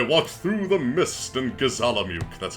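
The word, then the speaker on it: Gizamaluke: I walked through the mist in Gazalamuk. That's how it's pronounced by the way, Max.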